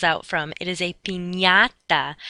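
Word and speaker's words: piñata: party is not a pinata that's not what the candy falls out from it is a pinata that ny sound sort of like how we pronounce lasagna and y okay the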